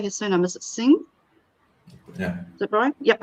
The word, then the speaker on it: Singh: Is it Singh?